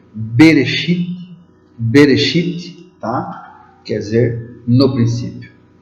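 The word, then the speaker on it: בראשית: das origens O que quer dizer noiva se pronuncia benesty bereshit quer dizer no princípio o assunto cultura literária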